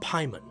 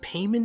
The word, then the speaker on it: Paimon: It's also worth noting that while I typically pronounce the name as Paimon, another common pronunciation you may have heard is Paimon, both of which at this point are generally accepted pronunciations.